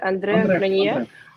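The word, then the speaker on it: André Cronje: В общем, как еще раз правильно имя произносить? Андре Кранье.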